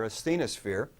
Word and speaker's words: asthenosphere: here the bottom called asthenosphere kind of phonetically as the no spere asthenosphere and so crust and